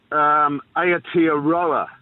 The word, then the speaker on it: Aotearoa: Aotearoa is how you pronounce that, mate.